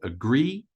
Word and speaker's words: agree: up to a point so we stress the second syllable of this word agree and up to a